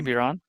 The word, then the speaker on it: Biron: Marty Biron. Yeah, it said Marty Barone.